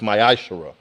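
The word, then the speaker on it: מעשר: of Malachi 3: 8-10 it means a 10th in the Hebrew and it is pronounced myash a tenth of every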